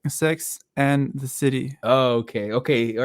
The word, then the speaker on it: Sex and the City: No, it's Sex and the City.